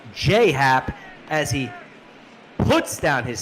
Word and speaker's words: Happ: I know all about jhap shout out to shout out to Tara tardis16 who wants it pronounced J Happ as he puts down